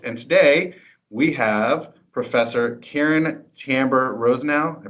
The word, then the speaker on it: Caryn Tamber-Rosenau: And today we have Professor Caryn Tamber-Rosenau. I pronounced that right?